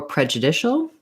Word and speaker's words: prejudicial: So it's similar to judicial in rhythm because we stress on the dish in prejudicial. So that part is similar. It is later in the word. And then we do also keep the pre of prejudice.